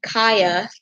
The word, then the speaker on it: Kya: He has a twin sister named Kaya. That's spelled Kya.